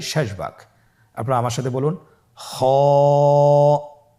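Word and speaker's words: خاء: খ হরফটি হলো মোটা হরফ, উচ্চারণের ক্ষেত্রে মোটা হবে।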